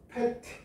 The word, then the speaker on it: PET: 뭐라고 읽어? 페트.